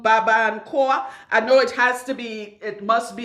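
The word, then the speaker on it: Barbancourt: It's called Baba and Koa. I know it must be, the T is silent because it's French.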